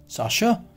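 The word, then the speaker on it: chasseur: This is the next, साशर. यहाँ बताया था प्रोनाउंसिएशन इज डिफरेंट.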